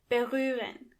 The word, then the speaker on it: berühren: First of all, the H is silent.